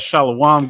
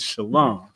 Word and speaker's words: shalom: Quick shout out to Captain Mo Quad in the comments said, "Stop that shalawam garbage. The correct way to say peace in ancient Hebrew is shalom."